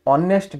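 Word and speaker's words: honest: आन यूज करबा एठी ऑनेस्ट टा हमें प्रोनाउंस केमि करजंदी ऑनेस्ट अ जोटा कि हमर भावेल साउंड क्रिएट होची सेति पे हम कोन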